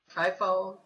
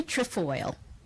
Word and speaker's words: Trefoil: Trifold. It's Trefoil. Trefoil.